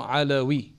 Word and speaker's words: Alawi: It's actually supposed to be Alawi, Ain Lam Wow, right?